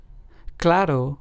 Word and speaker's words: claro: Claro, which means clear in Spanish, is pronounced as claro.